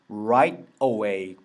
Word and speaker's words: right away: 같이 알아두셔야 돼서 아서 I will call them right away 바로 고장이란 뜻이죠 근데 내가 gh 특히나 이게